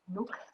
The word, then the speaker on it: Nuuk: Is it pronounced Nuuk? I think it is. Nuuk.